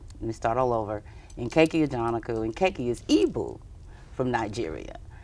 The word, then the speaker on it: Nkechi Ajanaku: This is Nkechi Ajanaku. Did I pronounce it Absolutely correctly?